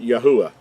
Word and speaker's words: Yahuah: referring to our Creator whose name is accurately pronounced yahuah the third letter gives us the the sound and not the wah or the valve sound as in modern Hebrew we've already talked about